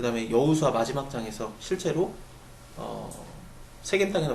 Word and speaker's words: 여호수아: 예수 그리스도를 기대하게 되고, 여호수아, 히브리 발음 여호수아, 헬라어로 하면 예수아가 되죠.